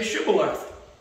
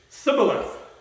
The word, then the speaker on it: shibboleth: you guys all right say shibboleth and they would say sibylla it's a dialect thing they couldn't pronounce it right so it immediately